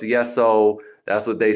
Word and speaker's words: Yesoul: No, it's Yesoul. That's what they say on the app and the trainers. It's Yesoul, which kind of makes sense. Yes to your soul.